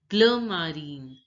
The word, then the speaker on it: bleu marine: Navy blue is pronounced as bleu marine, bleu marine.